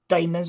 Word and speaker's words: daemons: can also be bad daemons or daemons. It's pronounced similar to demons, although they're not related.